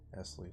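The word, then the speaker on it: Nestlé: at murf Smarties are Nestle yes Smarties or Nestle is British you don't pronounce the T don't spell the T Esley Swiss is it let's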